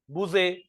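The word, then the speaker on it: bougette: हुआ इटिमोलॉजिकल the term बजट इ related to the word the टम बजट is related to बूजे French word बूजे the French word मैं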